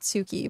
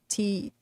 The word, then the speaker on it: Tsuki: Or no, I said Suki, but it's not. It's Ski. I forget how to properly pronounce it, but I always said Suki. It's Tsuki. And we like pass notes